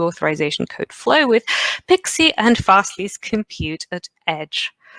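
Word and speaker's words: PKCE: key for code exchange, PKC, which is actually pronounced Pixie, I'm told on good authority.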